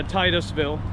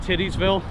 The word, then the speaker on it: Titusville: start buying their way up in life yeah Titusville Titusville that's how you pronounce it I've heard some people say like titties Ville don't get me wrong you know there's cute